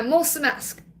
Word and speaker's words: mulțumesc: I thought, if there's just one word I can learn when I go there, it's thank you, and it's mulțumesc. I'm saying it wrong now, mulțumesc.